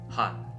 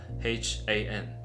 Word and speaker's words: 한: block like this word Han. If we separate it, we will get three different parts. Each letters we can think they are H A N. And we put them together, we will get Han.